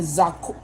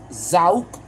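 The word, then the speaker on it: Zoc: Then Zauk, Z-O-C. But this is how you say it. Zauk.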